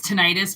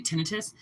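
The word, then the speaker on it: tinnitus: And people think it's tinitis, but that's not how you pronounce it. It's actually tinitus.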